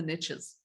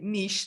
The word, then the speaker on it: niche: riches are in the niches now forgive me because in English of course we say Niche not that's an American version of that phrase but it Rhymes so